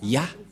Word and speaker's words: Yah: Moché est très claire ça se prononce ya et comment on va